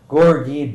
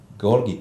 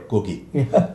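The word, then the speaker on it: Gorgie: aive whether it be Stockbridge the West in gorgi doai people would St St can I can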